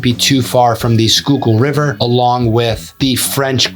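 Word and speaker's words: Schuylkill: you also wouldn't be too far from the skookul river along with the French Creek as well and yes it is pronounced skookul river which is great for fishing walking trails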